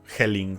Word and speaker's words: Jelling: Se llama así. Helling se escribe con J.